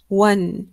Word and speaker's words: one: Number one كتابته تختلف عن نطقه. So عندنا هنا O لكن نطقها و. So و one.